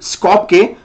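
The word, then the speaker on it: Skopje: के स्कोपके, स्कोपके इज the capital, अगर मैं स्पेलिंग लिखूंगा उसका तो उस कैपिटल का स्पेलिंग लगभग ऐसा कुछ आएगा। ओके, पर इसको जे नहीं कहते, स्पॉक के, सो स्कॉप पे, सो स्कॉप पे इज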